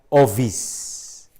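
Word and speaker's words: ὄφις: serpientes, la serpiente, y que se deletrea fonéticamente ovis, O-P-H-I-S, pero se pronuncia ovis, ovis, serpientes, serpientes, la serpiente.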